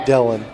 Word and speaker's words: Dylan: with the ball was dylan edwards or dialing edwards excuse me i think he does pronounce it dylan and he is short